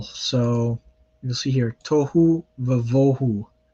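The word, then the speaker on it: וָבֹהוּ: So you'll see here, tohu vavohu. So it's a va with a kametz because vohu is one of those words where the stress is placed on the first syllable.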